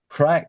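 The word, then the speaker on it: craic: We spell it C R A I C. And crack in Ireland does not mean what it means out here.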